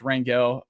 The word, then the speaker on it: Rangel: And then also, I thought another funny development was I've been saying Garrett Rangel, but I mean wrangle, but I guess it's pronounced Rangel.